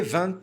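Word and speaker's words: vingt: E esse T vai fazer uma ligação com esse carinha aqui.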